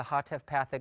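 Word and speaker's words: hataf patah: the pathic, represents the Hatef pathic vowel. And it's a short vowel. It's pronounced very quickly, like the A in the English word amuse. It's simply the sound, amuse, or America.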